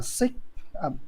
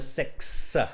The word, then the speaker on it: six: yeah all right um really pronounce that x on the six six six six yes thank you so six all right not sick because it's a different word right six okay well